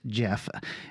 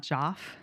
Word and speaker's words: Geoff: It's Geoff is Jeff, Geoff. And his name's not Joff? It's like Joffrey? It's Jeff.